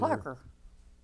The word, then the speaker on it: Kloecker: Kloecker. Kloecker. That's right. rhymes You with- said no umlaut. That's right. It rhymes with checker.